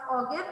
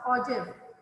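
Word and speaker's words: ogive: ojib o g i v e it's not pronounced or gif it's pronounced ojib this is again a type of frequency polygon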